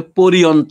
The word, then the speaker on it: পর্যন্ত: তারপরে অবধি, তারপরে অন্ত, তারপরে পরিয়ন্ত, উচ্চারণ করি পর্যন্ত।